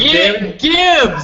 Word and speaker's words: Gibbs: Freddie, is it Gibbs or Jibs? Gibbs, damn it, Gibbs. It's a hard Gibbs.